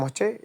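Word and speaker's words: ح: গলার ভেতর থেকে বাতাস বের হবে এবং বাতাসের সাথেই উচ্চারণ হবে।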